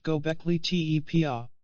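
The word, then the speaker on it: Göbekli Tepe: to find out how old the gole te pronounced gockley te site in Turkey is they followed an established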